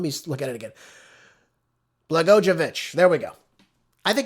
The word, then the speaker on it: Blagojevich: I I hate that I say his name wrong. So, let me look at it again. Blagojevich.